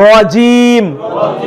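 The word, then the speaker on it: رجيم: শাইতান শাইতানির শাইতানির শাইতানির রজিম রজিম র পোর করে রজিম মোটা রজিম আউজুবিল্লাহি মিনাশ শাইতানির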